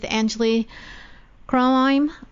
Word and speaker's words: Anjuli Kronheim: We're going to take a little break right now, and we'll be back with Anjuli Kronheim. Did I pronounce that right?